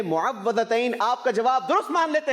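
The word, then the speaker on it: مُعَوِّذَتَيْن: सही प्रोनाउंसिएशन है मुअव्वज़तैन।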